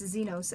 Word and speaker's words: Xenos: And also, if you didn't know how to pronounce those, it's Xenos and Zareth. I don't care if you pronounce it differently, but just that's how I say it.